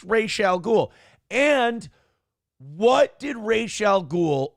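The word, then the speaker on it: Ra's al Ghul: but it's like no it you it is pronounced Ral ghoul and what did Rachel ghoul always call Batman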